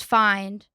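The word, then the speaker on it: Fynd: I'm going to say it and I'm going to spell it. Okay, great. Nature's find. Find spelled F Y N D.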